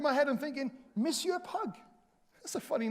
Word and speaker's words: Pugh: And I remember my previous travels in Europe, sometimes the spelling of my surname, P-U-G-H, Pugh, a good Welsh name, would sometimes be mistakenly pronounced as Pug.